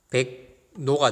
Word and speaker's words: 백로: 이거 발음해보세요. 어떻게 됩니까? 자연스럽게 하면 백노가 되고, 그 다음에 또 이 기역이 바뀌어서 백노가 되죠. 백노. 이해되죠?